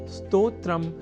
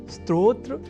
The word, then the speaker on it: स्तोत्र: अर्थात स्तोत्र में अर्ध सकार के बाद त और ओ इन दो अक्षरों का संयोग है। और इसके बाद त्र इस संयुक्त अक्षर का। यदि हम यह ध्यान में रख लें तो कभी भी स्तोत्र के स्थान पर स्त्रोत्र या स्त्रोत जैसे उच्चारण या लेखन हमारे प्रयोग में ही नहीं रह सकेंगे।